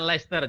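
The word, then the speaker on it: Leicester: posisi di Le ya Iya di sini namanya leer jadi kalau di UK ini apa tulisannya Chester tapi orang membacanya Oke jadi ini Sekarang posisi lagi belajar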